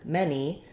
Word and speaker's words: many: many so this is an example where the letter A doesn't follow its typical rule um for saying the a sound in English and in these words the um the letter A says the vowel e like in men or then so words like any and many rhyme with the word Penny um and it would